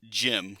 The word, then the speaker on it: GM: uh the RGM 79D gym cold district type. By the way, that is the GM is pronounced in Japanese gym.